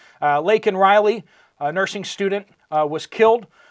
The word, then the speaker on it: Laken Riley: Instead of Laken Riley, he called her Lincoln Riley, which is terrible.